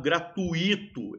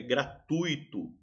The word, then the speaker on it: gratuito: Eu vejo muita gente falando errado, gratuito, é gratuito.